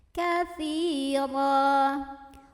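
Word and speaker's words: كثيرا: Katsira, ra-nya dibaca secara tafkhim karena ra berbaris dan barisnya di atas, maka bacanya tebal. Katsira, ra apabila berhenti di sini hukumnya mad iwad. Karena ada huruf yang barisnya fathah tanwin yang kita berhentikan. Maka cara membacanya fathah tanwinnya diganti jadi baris 1 fathah dan bacanya 2 harokat.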